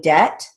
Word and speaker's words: debt: company did have a debt debt is written as d-e-t the silent b line seven second sentence